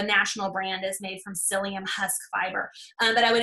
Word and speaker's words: psyllium: encourage psyllium husk fiber psyllium husk that's spelled with a psy that's all I can